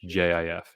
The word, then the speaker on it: GIF: pronunciations they are wrong it is a soft g soft g i thought i always thought that was a hard g a soft g pronounced gif jif end of story so